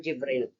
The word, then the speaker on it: Jibril: Okay, sa kanila kasi angel Gabriel, pronounced as parang Jibril.